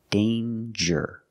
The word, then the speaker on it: danger: danger and anger so with danger we hear the J sound danger there's no nasal sound there's no M it's a regular n d with a J sound